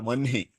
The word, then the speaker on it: vahni: We write Vahni, but we read it as Vanhi. It's always pronounced as Vanhi, but it is written as Vahni.